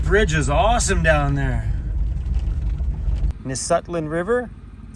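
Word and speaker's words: Nisutlin: teslin oh that bridge is awesome down there nutland river is how you pronounce it nutland River delta we definitely need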